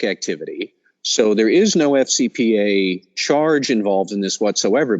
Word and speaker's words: FCPA: as Matt say is FCPA the eff is silent so Matt first of